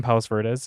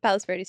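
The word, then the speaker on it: Palos Verdes: but Sierra is from Palace veres is how you pronounce it Palace veres yes and Friday I saw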